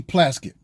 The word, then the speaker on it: Plaskett: her name because it reminded it rhymes with casket stacy plaskett every time i saw